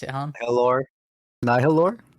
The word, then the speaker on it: Nihiloor: You pronounce it, Han. Nihiloor. Nihiloor? Nihiloor.